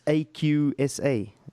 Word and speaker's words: Aqsa: AA the mosque there yes yes it's it's aqsa how do you spell it yeah yeah AA yeah a AA yeah